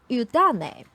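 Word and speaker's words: 湯種: And in fact, it is a Mandarin word because the Japanese pronunciation for this two kanji it's udane.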